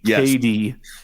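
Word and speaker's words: KaDee: that died Southern lady whose name is spelled k a d e k d so so Jason bear and KD Strickland um met on the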